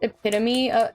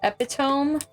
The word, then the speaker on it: epitome: For years, I pronounced epitome as epiome because I'd only read it and hadn't heard anyone say it before.